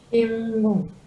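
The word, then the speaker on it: 新聞: Simbung. Simbung. Simbung. Nah, ini yang N-nya juga jangan lupa. N-nya dibaca eng.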